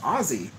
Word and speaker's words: Aussie: the australian troops um someone commented oh it's pronounced ozzy but the thing is is that actually like the only people in the world that i can tell so far that pronounce it aussie with s is americans it's a legitimate american